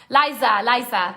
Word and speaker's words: Liza: Lisa. Oh, sorry, Lisa. Liza. That's how you say it. I'm saying it in Spanish.